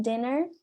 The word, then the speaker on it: dinner: Depois temos dinner, dinner. Então, dinner, quem tá terminando a sílaba aqui, é uma vogal, não um i, então vai ter som de i, dinner.